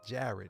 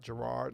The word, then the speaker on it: Jared: how to say it Jared not Gerard not Jed Jared now here's the